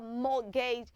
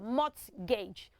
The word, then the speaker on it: mortgage: house that you have purchased is called a mortgage house so now look at the spelling it